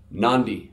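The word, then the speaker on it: Nadi: day the letter D n Adi we've got an end before the D Nandi all right pretty straightforward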